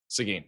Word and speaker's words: Seguin: Seguin. Seguin. All right, it's Seguin. I got Google to give me the pronunciation.